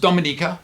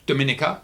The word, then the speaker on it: Dominica: all right there you go Dominica and it's pronounced Dominica not Dominica as Dominican Republic is Dominica uh again I